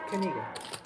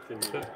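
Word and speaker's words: Knigga: No, it's pronounced Kinnega. Kinnega. Yeah. K-N-I-G-G-A.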